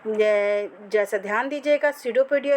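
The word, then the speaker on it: pseudopodia: हैं जरासा ध्यान दीजिएगा सूडो पोडिया इसका प्रोनंसिएशन है पीस में साइलेंट है या फिर इसे हम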